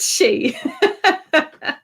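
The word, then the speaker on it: sidhe: definitely then we have the she moon pronounced s-i-d-h-e no spell s-i-d-h-e pronounced she cases can the moon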